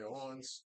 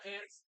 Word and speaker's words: aunt: that face because of pronounce it Aunt not ants I don't know what